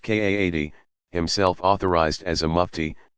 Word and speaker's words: qadi: religious judge called a qadi, pronounced Kaadi, himself authorized as a mufti, to adjudicate the matter.